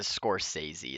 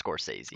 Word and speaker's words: Scorsese: from any potential comments it's a Scorsese is how you pronounce it it's confusing all right yeah it's Scorsese Daisy yeah corsetsy uh received a